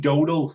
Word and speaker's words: Domhnall: That's how you say his name, Marty. Domhnall, it's fucking Donald, for Jesus' sake.